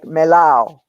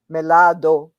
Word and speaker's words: melao: cubans break the the we never pronounce the end of the song of the of a word and if we do we don't like melao melao is melado with dio we don't do that so melao ripiao everything is we